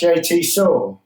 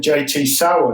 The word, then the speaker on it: JT Soar: yes wicked is it is it pronounced jt saw yeah because i'll be calling it jt sauer no wonder he looks